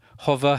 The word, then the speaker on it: Hover: By the way, in case my pronunciation of Hover has you foxed, that's H-O-V-E-R, like a hovercraft.